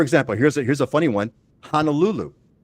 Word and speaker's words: Honolulu: So focus first on correctly pronouncing Hawaiian words, right? Like for example, here's a funny one. Honolulu. It's not Honolulu.